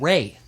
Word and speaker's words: Ra: And by the way, Seth can also be called Set, of course. Ra can also be called Ray as well. I've heard it pronounced both ways.